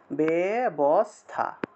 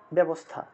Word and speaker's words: ব্যবস্থা: এই যে ব্যবস্থাটা আছে আমরা বাংলা ভাষায় কিভাবে উচ্চারণ করি বয় একার দিয়ে দেই আমরা বেবস্থা এই যে আমরা এভাবে উচ্চারণ করি ব্যবস্থা তাহলে আমরা জফলা ব্যবহার না করে তাহলে একার কেন ব্যবহার করলাম না জফলা ব্যবহার করার কি দরকার ছিল একার ব্যবহার করেই উচ্চারণ করতাম ঠিক না আসলে আমরা ভুল উচ্চারণ করতেছি এটা ব্যবস্থা ব্যবস্থা হলে